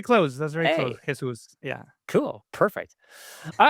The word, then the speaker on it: Jesús: If you really wanted to, I'm not saying you should, but people who speak Spanish will pronounce my name Jesus, which nobody can say it if you don't speak Spanish.